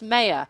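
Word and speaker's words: Mair: mayor m-a-i-r we've been pronouncing it ron ken pronounced mayor and cora many thanks to claire for making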